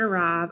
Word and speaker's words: arrive: If you notice right here, the very first syllable that I'm circling right there for you on your screen has the unstressed schwa sound.